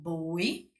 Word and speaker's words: voy: Então, eu conjugo o verbo ir no futuro, que vai ficar yo voy, escreve com V, mas tem som de B, tá certo?